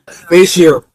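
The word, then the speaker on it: facial: अबे सही प्रोनाउंसिएशन बुलवाया करो। फेशल ना फैशल। ये अमेरिका से आए हैं। ये सही बताएंगे। जी फेशियल फेशियल।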